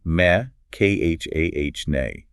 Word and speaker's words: mechane: It comes from the ancient Greek mech spelled phonetically me kh ah nay meaning a contrivance or a machine. Wait, I remember this from college literature classes. The mechane was the actual physical